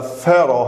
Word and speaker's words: pharaoh: built بنية for a pharaoh هاي PH تلفظ F ال PH دائما تلفظ F for a pharaoh فرعون